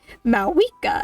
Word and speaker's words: Mika: And then I play the Archon Quest and they're like, "Mika." And I'm like, "How the hell do you pronounce Maua from that spelling?"